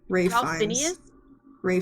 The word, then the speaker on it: Fiennes: Phineas? Ray Oh, Fiennes.